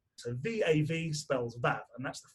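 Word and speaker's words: ו: Now, Val-Ash starts with a V, and the letter is pronounced Vav.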